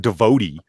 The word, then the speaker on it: devotee: the way it's spell I'm not saying devotee that's right like with the double e's on the end it's like divorcee is